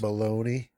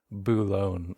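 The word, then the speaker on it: Boulogne: to uh bullone France baloney no no it's they don't have baloney they have buone sorry I had to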